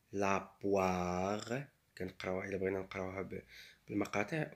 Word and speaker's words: poire: O-I se prononce wa. La poire.